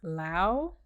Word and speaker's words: Lao Tzu: L-A-O. I know that's correct because I know Laos, Laotian. Lao, T-Z-U. Tzu. Some people said Chu. Some people said Tu. Some people said Tzu. It's one of them.